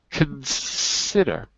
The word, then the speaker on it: consider: I think the difficulty is we don't really say con. It's really we swallow the syllable. Consider it's it's because I speak French. in consider so with those with those con words if the stress is not on the first syllable we're not going to say the vow in English the vow is o but we don't say cone we say con consider okay so what about